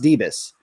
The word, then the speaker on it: Debus: as Nelson Debus, and it is pronounced Debus. I've heard people say, is it Deebs or Debus? And I met Cheryl Debus when I was working at Alden Debus, and I said, okay, so that's how it's pronounced.